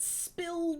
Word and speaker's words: SPLD: is still ignoring me spld stood for silent protest by lying down took he pronounced it spill but I will not pronounce it that way mm-hmm as an obvious